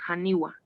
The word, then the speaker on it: haniwa: Entonces, no lo pronunciamos como en el aymara hani, pero sí lo decimos haniwa, ¿ya?